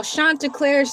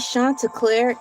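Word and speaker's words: Chanticleer: You guys want to know how Shanta Clair's name is spelled?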